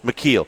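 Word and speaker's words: Micheel: McKeel.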